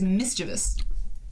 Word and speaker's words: mischievous: an aluminium situation no the real word if you look at the spelling is not spelled with v i o u s it is v u s it is mischievous look it up anyway